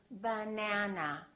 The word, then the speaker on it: banana: For example, if I say the word banana, banana has 3 syllables. Let's take a look. So we have banana. This second syllable is stressed. That means this vowel is going to be much longer. Repeat, banana, banana. So the a is going to be prolonged.